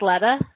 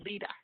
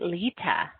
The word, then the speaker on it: Lita: Call me Lita. Oh, long E, Lita.